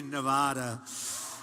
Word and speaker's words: Nevada: out here I said nobody says it the other way it has to be Nevada right and if you don't say it correctly and it didn't happen